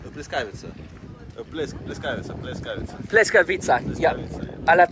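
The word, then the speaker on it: pljeskavica: Pleskavica. How do you say? Pleskavica.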